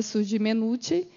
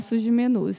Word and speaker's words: Sud Mennucci: de São Paulo né a pronúncia correta seria surge menut mas lá no já acostumamos a falar surge menos isso então aceitamos as duas versões e para que vocês